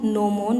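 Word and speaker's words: gnomon: inclined होती है ये इसको हम नो मोन बोलते हैं जी साइलेंट होता है यहां पे ये जो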